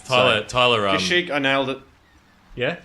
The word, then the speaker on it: Kashyyyk: Kashyyyk, I nailed it. Yeah. Spelt with 3 Y's.